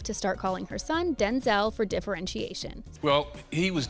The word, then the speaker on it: Denzel: But Denzel, not Denzel, let us in on how his name is supposed to be pronounced.